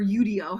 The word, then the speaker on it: Udio: Eve was showing us udio or yudo however you want to spay it say it spell it whatever um and